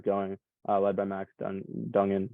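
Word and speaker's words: Duggan: uh led by Max Donegan how do you say his name Max Duncan is that right yeah and I mean they've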